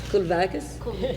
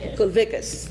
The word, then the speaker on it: Kulvikas: Miss, how do you pronounce your name? Kulvakis? Kulvikas, okay. Now I'm a linguist and I want to make sure I pronounce it correctly.